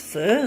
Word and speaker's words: pho: I sort written somewhere that's pronounced fur like if you are well of course we people who speak English fur is something you find on animals so but that's how they pronounce the word the letters the pho